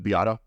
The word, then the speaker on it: Beato: Guys like Rick Beato, Mm-hmm. I'm probably pronouncing his last name incorrectly, but was it Beato?